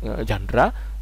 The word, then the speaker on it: genre: pernah nonton film ya ada tulisannya genre itu ya ya bacanya jandra jandra dari dari suatu